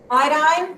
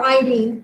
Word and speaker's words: iodine: seven of them oxygen iodine or iodine I've heard it pronounced both ways chlorine nitrogen not carbon